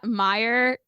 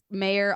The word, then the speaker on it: Meyer: what's hard to what what's hard about your name uh Meyer I get gu mayor all the time I just got sent